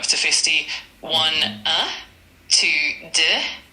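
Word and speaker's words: deux: One uh two du d e u x three t r o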